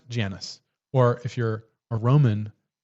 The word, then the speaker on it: Janus: If you're in England, they say they pronounce it Janus, but here in the US we call it we say Janice.